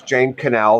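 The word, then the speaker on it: Jane Connell: And in the old days, she that's Jane Canel.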